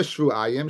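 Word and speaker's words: שבעים: So I pronounce it shvuayim. Yochelte yoledes Keva Tameya shivim. I might think she's tummy for 70 days, because that's the way it's written.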